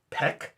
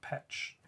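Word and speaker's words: Pech: uh the name of the crew Homeworld is pronounced I don't even know that Peck p-e-c-h huh is not Pitch Perfect like your chest muscles I mean that's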